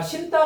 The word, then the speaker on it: 신다: 자 신따 봐봐. 신따에서 신이 어간이고 다가 어이잖아. 근데 첫소리가 디귿이잖아. 자, 그래서 니은하고 디귿이 만나 갖고 신따 쌍디귿으로 바뀌어 있어요.